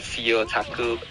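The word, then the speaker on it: CEOtaku: and there um got CEO taku CEO taku how you pronounce that now uh so you got otaku right so just put CE before so CE otaku okay all right it's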